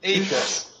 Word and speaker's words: Ahrefs: Like, how do you pronounce it? Yeah. Yeah. Yeah, Ahrefs.